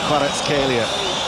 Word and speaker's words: Kvaratskhelia: It's pronounced Kvaratskhelia.